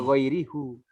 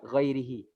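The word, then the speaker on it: غيره: Ya, karena di sini diawali dengan kasroh, ya maka bacanya hi. Jangan dibaca ghairihu. Susah dia ghairihi.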